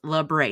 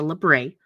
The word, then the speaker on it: labret: yes it's pronounced labret it's a French word it's lebre it's not lebrate if I hear another one if you guys call it Ella Brit we're gonna fight but it's a librae he got it pierced